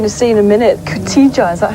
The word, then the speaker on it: Koteja: Right, well, we're going to see that now, and this correctly pronounced is Koteja.